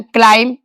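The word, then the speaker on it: climb: अगर MB last में है तो B का उच्चारण नहीं होगा, कम, थम, लैम, क्लाइम।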